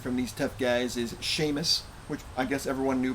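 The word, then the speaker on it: shamus: which I assume is it's spelled s-h-a-m-u-s but uh it's pronounced like Sheamus the Irish name and I'm assuming it's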